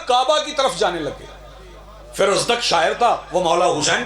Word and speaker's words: فرزدق: فرزدق وہ ہے، فرزدق تلفظ اس کا ہے فرزدق.